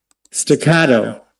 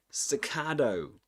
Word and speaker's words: staccato: One way of pronouncing it in American English. Staccato. Staccato. Though at the end does a flap T.